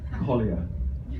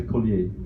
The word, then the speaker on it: Collier: about my last name, the way that you pronounce it is in fact Collier. Collier. And some people say Collier, including Quincy says Collier. I've told him it's not that, but it's never to be changed.